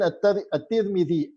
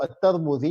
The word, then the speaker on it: al-Tirmidhi: Sunan al-Tirmidhi ou al-Tarmudhi, il y a 2 façons de prononcer son nom, de Isa, Muhammad ibn Isa ibn Sodra, décédé en 279 de l'Hégire.